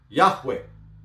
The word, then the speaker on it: Yahweh: that of those who regard this name as anciently pronounced Yahweh Yahweh like the Samaritans